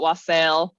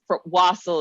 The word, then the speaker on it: wassail: bourbon to it indeed I've heard it pronounced both ways and I'm sure that my pronunciation will vary depending on how high and or drunk I am so um I've I've definitely heard people call it wasel because it's I I I suppose it's wasle is the more correct